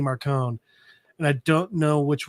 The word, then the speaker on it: Marcone: So I've always thought Gentleman Johnny Marconi. And then the audiobooks came out, and it's always Gentleman Johnny Marcone.